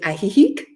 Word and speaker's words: Ajijic: Via De Oro I guess it's more proper pronunciation in Spanish it's in ajijic AJ i j i c okay and these